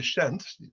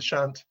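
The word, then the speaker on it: Pschent: So the Shent, the P is silent, the Shent, you see, has the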